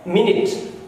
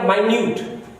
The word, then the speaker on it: minute: तो आपने देखा सेम MINUT एक नाउन है तो उसका प्रोनाउंसिएशन है मिनट। अगर ये एडजेक्टिव हो गया तो इसका प्रोनाउंसिएशन बदल गया माइन्यूट।